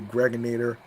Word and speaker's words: Gregonator: I'm your man, aka the Gregonator. Rhymes with now or later, like the candy.